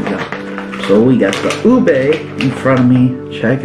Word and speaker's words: ube: minutes later let's start off with the oishii ube pillows from the philippines and that's me so